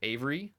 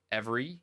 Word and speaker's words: Avery: So, when you research him, some people say Avery, some people say Every, Every, or Avery. Some people say his name was John Avery, or John Every.